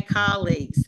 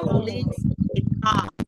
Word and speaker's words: colleagues: the word colleagues okay colleagues because in country is colleages colleag okay Coles yeah okay so not a CO it's a call colleag and so colleag yeah